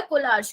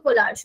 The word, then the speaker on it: Kohlrausch: तो हमारे पास आया भैया कोलार्श लो, कोई अलग अलग प्रोनाउंसिएशन है इसकी, कोई किससे कैसे बोलता है, कोई कैसे, मैं बोलती हूँ कोलार्श लो।